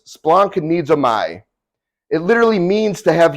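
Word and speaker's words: σπλαγχνίζομαι: is used for compassion basically how it how it's said is Splunk needs a my it literally means to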